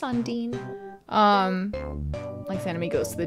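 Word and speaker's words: Undyne: and garbage dump hey how do you pronounce Undine as dean as well no just on Dean likes enemy goes to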